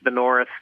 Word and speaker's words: NXRTH: So it's the North, but it doesn't look like the North unless you know it's the North.